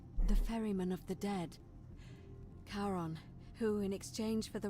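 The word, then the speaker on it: Charon: Karon, who in exchange for the right coin helps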